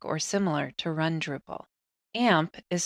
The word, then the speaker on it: AMP: AMP is spelled A-M-P and stands for Apache MySQL PHP.